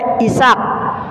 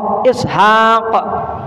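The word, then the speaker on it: إسحاق: s a a c Isak Isak itu sebetulnya Ishq Alif Sin ha Alif Q Ishaq orang buleai bacanya is gitu Isak newon Nuh aja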